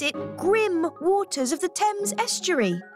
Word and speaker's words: Thames: Even as we speak, the goddess of the Thames is... Oh, it's pronounced Thames.